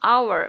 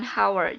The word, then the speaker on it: hour: Ya, walaupun hour diawali dengan huruf H atau H, tetapi dibacanya hour, bukan hour. Jadi pakainya an hour.